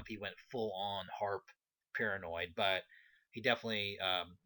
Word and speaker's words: HAARP: uh conspiracy round uh harp i guess that's the way it's pronounced h-a-a-r-p and um basically the